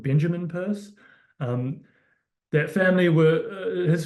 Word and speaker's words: Peirce: is pronunciation again um you read his name and you think Pierce it's purse um I wish it